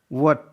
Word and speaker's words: what: वट, WHAT. W के बाद H तो H साइलेंट है, इसका प्रोनाउंसिएशन होता है वट.